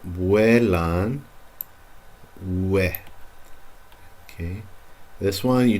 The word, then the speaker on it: vuelan: That U is there to be pronounced. Vuelan.